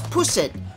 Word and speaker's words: pusit: Next, I also got this pusit. Be careful with the pronunciation.